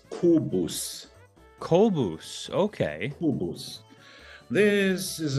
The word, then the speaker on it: Kobus: In German, it's Kobus.